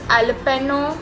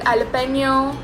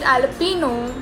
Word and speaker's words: jalapeño: So yeah, there are different ways in which people pronounce jalapeno. Some people call it jalapeno. Some people call it jalapeno. Both the ways are right according to me, but it's definitely not jalapeno.